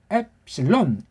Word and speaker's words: 엡실론: 엡실론, 엡실론. 엡은 조금 올리고 론자는 많이 올리고 엡실론. 예. 그게 어떻게 됐지? 에에다 푸실론 한 거예요. 엡실론, 엡실론.